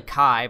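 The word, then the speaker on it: χ: That X is not key. Well, that's how you say it. It's actually Kai, but they keep saying keys because it sounds like an actual key.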